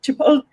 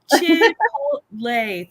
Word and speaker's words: Chipotle: Holly I love you I don't say like chipot Chipotle thank you chle I have certain words of